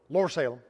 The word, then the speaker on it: Lower Salem: names like Whipple and lower Salem which the locals print it's almost with one syllable lore Salem we've eventually found the